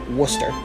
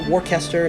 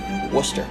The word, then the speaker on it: Worcester: came out a little bit strong there it's worcester not warcaster not wolcester worcester the woo and at number one you all